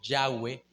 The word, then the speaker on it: Yahweh: De hecho, mi querido hermano, el tetragramatón, esa palabra y hhwh que se pronuncia como Yahweh, aparece 6800 veces en